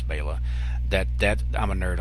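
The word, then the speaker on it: Béla: which and I loved Beyla which I know a lot of people call him Bela but I think it's nice to pronounce Bayla that that I'm a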